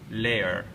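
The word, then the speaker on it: Laer: alien civilization known as the leayer or liar l a e r I kind of like the pronunciation liar because it sounds like liar and um even though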